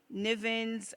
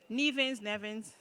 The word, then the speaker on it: Nevins: John Nivens Andrews. Yeah, that's how you call it. I'm pronouncing it wrong? Nevins.